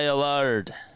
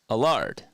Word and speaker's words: Allard: that is fouled away alard alard yeah a a like a and then lard it's like um what's his name Lazard that's like what it rhymes with uh Lazard uh Alan